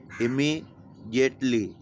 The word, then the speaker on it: immediately: इमीडिएटली, IMMEDIATLELY, IMMEDIATELY, इमीडिएटली। अब इसमें कहीं ज नहीं है, जे नहीं है, फिर भी इसका उच्चारण इस तरह से किया जाता है, इमीडिएटली, जिटली, है ना, यानी तुरंत, अविलंब, ठीक है।